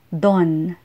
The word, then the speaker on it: doon: rito have no short form Dian is often pronounced as Johan Johan and ran is ran ran doon is Don Don and roon is Ron Ron Filipinos instinctively